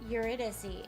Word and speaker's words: Eurydice: Yeah, Eurydice. Dissy is the pronunciation.